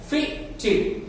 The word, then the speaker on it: fitted: fitted, fitted, fitted, fitted।